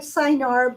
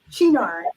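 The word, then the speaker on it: Cynar: Italian liqueur uh which um it looks like cyanar but it is pronounced chinar and the reason this one came into play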